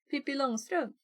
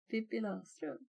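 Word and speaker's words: Pippi Långstrump: Pippi Longstrump. Pippi Longstrump. I think it's like Pippi Longstocking in English, right? And also there's the first A in Longstrump has a ring above it.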